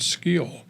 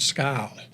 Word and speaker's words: Skyll: program for us, and it's called Skill. It's spelled Skyll. Well, when you get AI to talk to you, they call it Scowl.